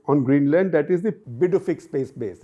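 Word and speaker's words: Pituffik: a military base on Greenland that is the Bic space base it's spelled p Tu but the pronunciation is BIC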